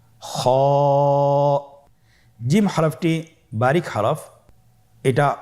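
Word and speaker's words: خ: কিভাবে উচ্চারণ করতে হবে খ হরফটির মাখরাজ হল কন্ঠনালীর শেষ ভাগ হতে উচ্চারণ করতে হয়। কন্ঠনালীর শেষ বাগ। আপনারা আমার সাথে বলুন খ আবার বলুন।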